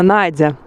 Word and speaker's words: Надя: И произносится Надя, как и в русском языке.